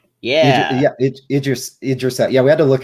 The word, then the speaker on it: Idris: She also corrected us. It's Idris, I believe, is how it's technically pronounced. Yeah. Idris.